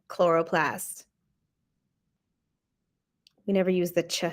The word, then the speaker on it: chloroplast: before, but the ch we don't say the ch sound in science. I don't know why the ch always sounds like a k. Mitochondria, chromosome, chloroplast.